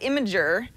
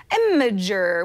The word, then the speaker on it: Imgur: when you you know if you go phonetically imager what's neat about imager